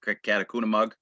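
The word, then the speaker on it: Catacunemaug: a substantial area along a critical brook, Catacomb, which is how you pronounce it.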